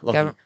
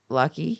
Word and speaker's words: Lachie: Lucky. Lucky. Yeah. Lachie is the way that Americans pronounce Lucky it.